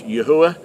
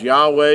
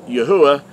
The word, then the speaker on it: Yahuah: know that the name of the creator is pronounced as yahuwah he's not referred to as yahweh as a lot of people who uh been